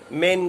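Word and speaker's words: Maine: William Douglas 1898 to 1980 was born in मेन कह लीजिएगा, America का एक प्लेस है ये। इसको माइनी भी कहते हैं, माइनी। अलग अलग प्रोनाउंसिएशन मिलेंगे इसके कंट्रीज के अकॉर्डिंग।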